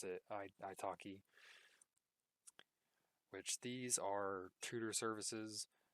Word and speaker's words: iTalki: And then to the left again, we have Preply, and I pronounce it Italki, which these are tutor services.